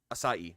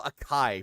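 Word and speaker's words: açaí: Ai asai. Okay. It's Asai. Thank you. I could never pronounce I could never say it right. I always call Akai because it looks like a Kai but it's Asai.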